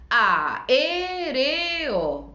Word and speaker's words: aéreo: Yo separo y digo aéreo. Ese E es lo que digo con mayor fuerza, es mi sílaba tónica y entonces esa va a ser mi palabra esdrújula.